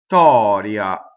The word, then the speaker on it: Vittoria: Vittoria. It's not two T's, it's a stop, right? It's a stop, it's a space that makes the double T.